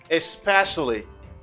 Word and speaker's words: especially: First, the pronunciation. Especially, especially. The stress is here.